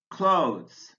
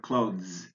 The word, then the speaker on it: clothes: Clothes. You can pronounce the word clothes, but we often say clothes.